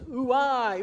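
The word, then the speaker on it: οὐαί: It's really interesting because the word in Greek is ooi, ooi, ooi, woe, woe, woe. It's kind of like ooey, ooey, ooey.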